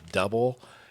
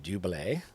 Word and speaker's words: Double: But a lot of people call them Double. It's actually pronounced Double.